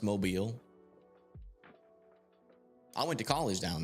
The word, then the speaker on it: Mobile: It's pronounced Mobile.